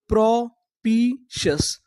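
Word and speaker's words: propitious: अगर आपको इंग्लिश में कहीं पर TIOUS लिखा मिले तो हम लोग TIOUS को पढ़ते हैं सस। क्या पढ़ते हैं? सस। तो पूरी मीनिंग क्या बनी? प्रोपीशस, प्रोपीशस, प्रोपीशस।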